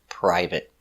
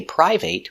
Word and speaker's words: private: We don't say private, we pronounce it private. Let's take a closer look at the pronunciation. Private. P. Per. I. Pry. V. Prive. Prive. T. Private. Private. Use a stop T, not private.